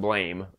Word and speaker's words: BLAME!: the anime is called blam that's spelled blame but it's supposed to be pronounced blam apparently and it is a